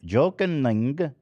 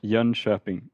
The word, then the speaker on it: Jönköping: How can you pronounce it for real? Yeah, Jönköping. Shopping. Oh. Jönköping. Huh. Yeah, there you go.